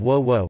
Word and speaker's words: 倭: The term Wa hey is a homophone of Wo Wo pronounced Wa by the Japanese, which has been used